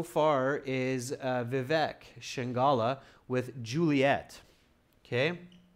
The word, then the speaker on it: Juliet: So Juliet or Juliet spelled like that, but it's Juliet, not Julia. Julia is a different name. So you have to catch the T on that.